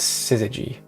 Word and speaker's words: Syzygy: It's Syzygy. I wrote down the exact pronunciation.